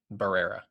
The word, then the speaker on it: Barrera: It's Herrera, but Barrera. Barrera. Okay. Barrera. I think that's who they end up taking.